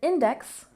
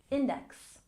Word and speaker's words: index: appendices or appendixes and index we stress the first syllable index index one index two